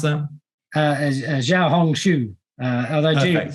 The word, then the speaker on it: Xiaohongshu: So Alan, I'm going to ask you to jump in and how do I pronounce that? Xiaohongshu.